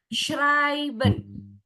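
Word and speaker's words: schreiben: Oke, Wina cara bacanya shriben ya.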